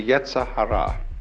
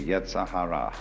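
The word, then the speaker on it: yetzer hara: rascality in Jewish theology this is called the Yahara uh ye e z e r h a r a the Yahara the element of irreducible rascality which was created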